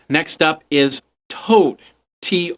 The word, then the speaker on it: Tod: a successful Kickstarter all right next up is Toad to o d but it's pronounced toad basically what it is is a